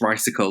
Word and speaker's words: Ricycle: So yes, it's Ricacle, like bicycle.